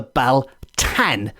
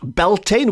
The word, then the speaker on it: Beltane: like for example the Bal tan I am assuming that's how it's pronounced b-a-l-t-a-n not Beltane we'll get to that very